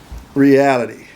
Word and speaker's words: Realitty: Reality. Is that correct? That's correct, but it's spelled with 2 T's. All right, 2 T's. So if you look at it, it's reality, but in reality, we're Realitty.